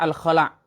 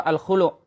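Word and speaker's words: الخلع: Yang benar adalah surah Al-Khala' atau surah Al-Khulu'. Diambil dari lafaz nakhla'u.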